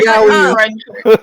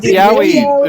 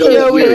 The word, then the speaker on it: yaoi: I'm doing a Trump yaoi impression. Guys, let me talk. Okay, wait. Some people pronounce it yoey. Wait, It's not yoey.